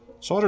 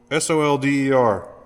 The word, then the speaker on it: solder: they solder they melt solder is a weird word s o l d e r right but you don't say it like solder maybe you do in other parts of the country but here in Texas we don't here we go come